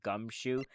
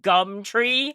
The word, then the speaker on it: Gumshoe: Detective Gumshoe? Detective... Detective Gumtree? No, it's Gumshoe.